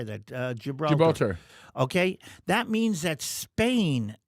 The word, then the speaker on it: Gibraltar: Gibraltar.